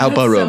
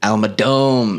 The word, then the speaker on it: Almedom: Almedom is here. That's Alparum.